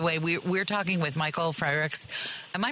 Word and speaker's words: Frerichs: us, by the way, we're talking with Michael Frerichs. Am I pronouncing your last name correctly? You are. Okay. Frerichs. Like Frerichs.